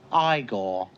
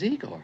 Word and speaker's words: Igor: I see you must be eagor now it's pronounced igore but they told me it was eigor well they were wrong then weren't they uh